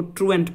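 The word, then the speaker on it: truant: ट्रॉन्ट मत पढ़ना, इसको ट्रूएंट पढ़ा जाता है, ठीक है, ट्रूएंट।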